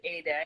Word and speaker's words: Ede: And while I'm sending you away to places, I have a new YouTube channel called Healthy Keto Living with Ade, and my name is spelled EDE.